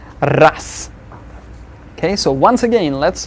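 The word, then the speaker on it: раз: Then the next one we've got raz versus ras. We see raz, since z is there at the end of the word, we'll pronounce it as ras.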